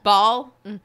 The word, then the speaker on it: Baal: Baal? I found out in Diablo it's pronounced Baal.